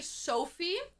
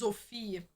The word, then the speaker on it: Sophie: Well, the thing is in English you say Sophie, but in German it's Zofhi.